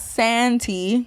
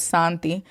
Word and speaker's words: Santi: name and it's not Santi that it's pronounced like with a Spanish accent so it's Santi and yeah that's her